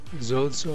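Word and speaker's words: σῴζω: So look up this Strong's number 4982, and it says it's Zeuso, pronounced Zozo, or, but they, look, they tell you it's from a primary SOS contraction for obsolete Zeus.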